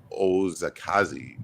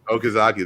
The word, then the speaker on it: Okazaki: But great stories, and and great art too, as was evident in the last slide with Takashi Ozakazi. Ooh, I butchered that probably. Okazaki, I think. Okazaki. There we go.